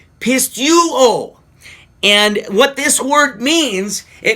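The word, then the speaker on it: πιστεύω: Now, this word in Greek, and I'm going to do my best to pronounce it, is pronounced pisteuo.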